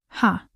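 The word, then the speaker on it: ห้า: 555 in Thailand because the number five is pronounced ha.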